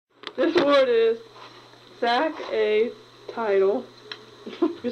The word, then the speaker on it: saxatile: This word is sack a title. We spell it S-A-X A-T-I-L-E.